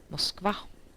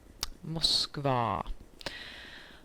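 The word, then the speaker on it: Moskva: uh and funny fact it's actually pronounced exactly the same in Swedish as in Russia namely Mosa Mosa um so that way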